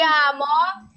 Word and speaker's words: amo: Poi qui c'è ti amo, aku cinta kamu sih, come in francese, je t'aime. Amo kayak tadi kan, yang manjo akhirannya o.